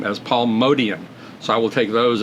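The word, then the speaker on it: Motian: a uh a Bill Evans video where he pronounces Paul mion's name as Paul modian so I will take those as the uh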